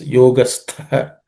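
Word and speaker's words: योगस्थ: Yogastha. The tha is second letter in the third class of consonants. It has to be aspirated.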